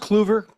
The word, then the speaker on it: Clover: looking forward to this is it pronounced Clover it is it is you can call